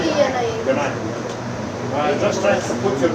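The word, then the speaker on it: Genia: Yes, I'm Ganaya. I'm from Australia and I'm 20. Australia. Yes. All right. Yeah. What's your name again? Ganaya. Ganaya. G-E-N-I-A. Ganaya.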